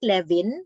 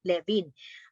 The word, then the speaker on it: Lewin: Si Kurt Lewin, huwag niyo kakalimutan, ang pronunciation niyan ay V because sa German ang W ay V.